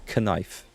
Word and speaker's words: knife: Like the K in knife. Exactly. It's pronounced knife.